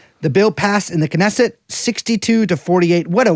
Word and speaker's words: Knesset: The bill passed in the Knesset 62 to 48. What a word I hate saying, Knesset. Knesset. Good god, am I saying it right? That's how you say it.